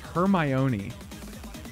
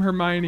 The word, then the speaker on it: Hermione: Potter uh I I thought hermion name was pronounced hermion oh I had never encountered the name Hermione before a lot of vowels in there there's